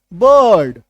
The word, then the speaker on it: bird: Silent होता है। जैसे BIRD, बर्ड, बर्थ, है ना, यहां पे अ छुपा हुआ है।